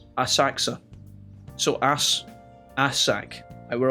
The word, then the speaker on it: Asakusa: to the pronunciation of asakusa the japanese people almost never vocalize that oh sound in here so it just sounds like asaku asakusa so ass ass sack